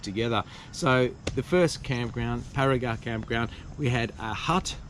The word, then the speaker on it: Barigar: Eventually get to the campground, which is Barigar campground, pronounced Barigar campground.